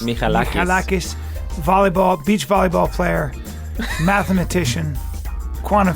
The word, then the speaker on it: Michalakis: Michalakis. Michalakis.